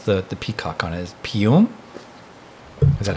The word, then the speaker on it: Piume: Is Pium? Is that how Piume. Piume. Yeah. Okay. Sorry about that. No, it's all good. You'd be surprised. Most of my distributors have called it Plume instead of Pium.